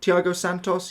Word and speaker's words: Thiago Santos: if you did complete him T tho Thiago Thiago Santos yeah that's how you pronounce it not a bad card I think